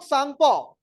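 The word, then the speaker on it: Tsangpo: बाद देखो द यारलंग सांगपो अब देखो य सांग है अब इसम अंग्रेजी में टी लिखा है टी तो साइलेंट होता है ऐसे कोई ंस ना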